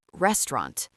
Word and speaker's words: restaurant: First word, the word restaurant. Not resto with three clear syllables. Restaurant. Almost two syllables. The middle collapses.